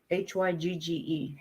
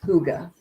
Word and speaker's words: hygge: Hygge is pronounced Huga. Huga homestead.